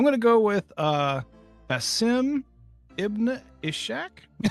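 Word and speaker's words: Basim: Bim that little guy don't say like you know how to say it it's Bim dude don't you know it's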